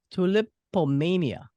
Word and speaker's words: Tulipomania: I have on my show today the Philadelphia art rock duo, Tom Murray and Cheryl Gelover, Tulip Tulipomania. I gotta make sure I pronounce that right.